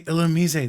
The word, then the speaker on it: Illumise: People are gonna go, why does he say Illumise? That's so weird. It's the right pronunciation, but it's been Illumise since.